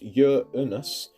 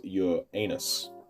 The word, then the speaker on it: Uranus: This is obviously a joke entry, but Uranus is, according to NASA, pronounced Uranus rather than the pronunciation most used, which is Uranus.